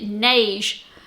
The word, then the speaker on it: Neige: I've been told you pronounce it like beige, but it's the neige sweatshirt from Deer and Doe, which is now part of Closet Core Patterns.